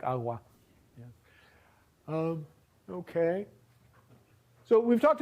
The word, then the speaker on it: agua: Again, there are dialects of Spanish where if you have a G between vowels, it'll get this kind of sound in words like agua.